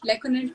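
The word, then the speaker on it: Lecoanet Hemant: Lekonet Hemant, if I'm right. Did I pronounce it right? Lekonet Yeah.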